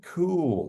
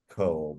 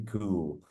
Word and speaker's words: Kuhl: we have a Sandy cool with this KL I had to ask her how to pronounce that to make sure we didn't say Cole but it's it's Sandy cool and uh she is